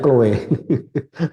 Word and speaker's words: Chloe: Naftali Chloe ya? Ya, Chloe. Ya. Bacanya Chloe.